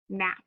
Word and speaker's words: gnat: Now, the last silent letter spelling that we have is GN, and the G is silent, so we have N, at. Word is gnat.